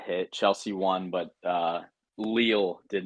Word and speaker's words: Lille: Chelsea won, but Lille did not score. So It's pronounced 1-1. Lil. Is it Lille?